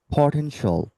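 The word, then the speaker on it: potential: যাবে shall write সল পটেনশল পটেনশল আর এটিটা উচ্চারণ করা যাবে না কি করতে হবে তাহলে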